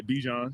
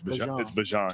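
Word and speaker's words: Bijan: How you pronounce my name is Bjon Bjan for everybody that's that's out there. Um I know a lot of people say Bjon. There you go. But it's Bjan.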